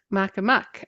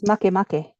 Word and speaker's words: Makemake: And this is the dwarf planet Makemake. And I think I'm probably saying it wrong. I think Um, it's Makemake.